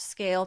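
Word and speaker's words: Scayle: Brands like Herods, Manchester United, and Snipes trust Scale to power their business. So why are you still suffering? So visit scale today. That's s c a y l e. Yes, the y is silent because you never have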